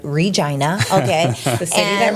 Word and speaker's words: Regina: Saskatchewan Canada and yes I said it right Regina okay the city that rhymes with fun yeah that's what they the rock